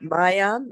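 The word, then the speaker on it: मायाम्: Is it Oh, it is Maya? right. Mayam is correct.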